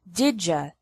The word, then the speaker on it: did you: did would and could did you sounds like didja did you finish the